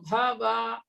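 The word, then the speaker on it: भव: That bhava is short vowel, no? Vakara. So you should say Matkarma paramo bhava. Matkarma paramo bhava. Don't drag or elongate va. Bhava.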